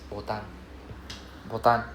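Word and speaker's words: ボタン: It's not button or or what it's botan Japanese pronouncing it ban.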